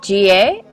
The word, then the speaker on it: Ji Ae: GA? Yes, correct. Perfect. GA.